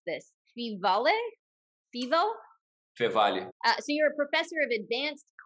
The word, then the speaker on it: Feevale: And you also work at, now, how do I pronounce this? Feevale.